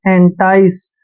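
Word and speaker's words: entice: important word for यू ई एन टी आई सी ई देखिए ई का उच्चारण ए कर रहे हैं और एन को न पढ़ रहे हैं टी आई का उच्चारण टाई करेंगे ऐसे और सीई को स पढ़ते हैं एंटाई एंटाई होता है लालच देना लुभाना यह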